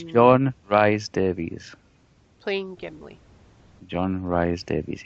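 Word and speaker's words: John Rhys-Davies: It's John Rhys Davies.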